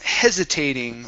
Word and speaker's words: hesitating: try the word um hesitating right here hesitating so our stress is at the very beginning okay we say hese okay so this is going to be a voiced s try not hesitating hesitating